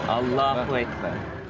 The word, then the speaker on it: Allahu Akbar: Inflection is on the second syllable. Allahu Akbar.